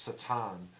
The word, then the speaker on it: Satan: the word Satan potion Hebrew it's pronounced satin and it means adversary we were an adversarial